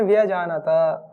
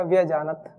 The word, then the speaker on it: व्यजानता: तन्ने व्यजानता, अब जैसे व्यजानता, जिसने व्याकरण पढ़ी है वो कैसे पढ़ेगा इसको? व्यजानता। और जिसने नहीं पढ़ी वो कैसे पढ़ेगा? व्यजानत। व्यजानत ऐसे पढ़ेंगे, तकारांत, व्यजानत। लेकिन शुद्ध उच्चारण क्या है? व्यजानता।